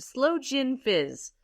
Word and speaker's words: sloe gin fizz: don't know what to try it she said Slow Jin Fizz you ever had a slow Jin Fizz no